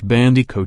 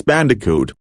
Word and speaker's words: Bandicoot: old PlayStation games Crash bandic coat videos for bandic coat month spun are you being serious it's Bandicoot you can't pronounce words for